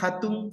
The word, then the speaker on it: hatun: Recordemos que aquí la H se pronuncia como la J del español, hatun, hatun mama, hatun taita o hatun yaya.